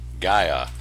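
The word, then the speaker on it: Gaia: October brand-new month so it's Gaea phonetically spelled G uy u H gaya 20% off along with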